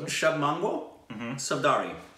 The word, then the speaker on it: Shubh Mangal Saavdhan: Shubh Mangal Saavdhan. Is that an R-I or an N? No, Saavdhan. Shubh Mangal Saavdhan.